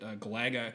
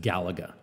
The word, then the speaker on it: Galaga: those are good, definitely good taste because, like I said, that Galaga comes from Space Invaders, which is like one